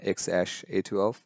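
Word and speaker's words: X Æ A-12: I think Elon Musk did show up in Joe Rogan's podcast recently, and he was like, it's pronounced X-A12.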